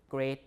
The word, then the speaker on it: great: Midway uh break not break steak not stick great not greet so there are some exceptions right and uh